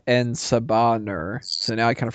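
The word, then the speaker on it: En Sabah Nur: wrong all these years I thought it was enaba Nur not en saur so now I kind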